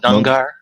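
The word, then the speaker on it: Knujr: The monks of Nungar. It's a K-N-U-J-R. The K is silent.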